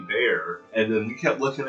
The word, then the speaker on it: BEAH: cute because um you can obviously see it's b e a and at first I was like how are we going to pronounce that but they're like no no it's